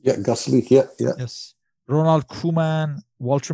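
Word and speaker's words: Gasselich: You have Hans Galge in goal, you have Van Basten, Boev, a young Johnny Bozeman, Austrian Felix Gaslich, I believe it's pronounced. Yeah, Gaslich, yeah.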